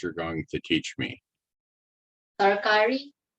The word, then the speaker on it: tarkari: First, how do you properly pronounce what you're going to teach me? Tarkari.